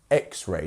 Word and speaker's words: X-ray: So it's actually our first syllable, which is our stressed one here. X-ray, not X-ray. X-ray. Otherwise, it would be X-ray.